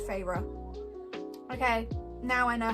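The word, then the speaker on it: Feyre: little bit more favor if you draw the two syllables on my name pharaoh okay now I know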